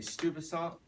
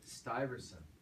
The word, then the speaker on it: Stuyvesant: it Peter stupid song everyone say stupid song oh it's something that right that's not right it's stiver stiverson stiverson that's how you pronounce it stuyvesant in Dutch I called someone last